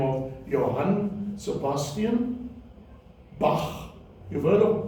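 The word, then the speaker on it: Bach: a man by the name of Johan Sebastian Bak you've heard of B it is that sound which is spelled CH H that we in English would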